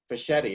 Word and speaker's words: Fischetti: I'm here with Fischetti. Is that the correct pronunciation?